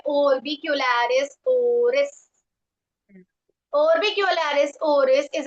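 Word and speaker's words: oris: उसका नाम है ओरबिकलरिस ओरिस।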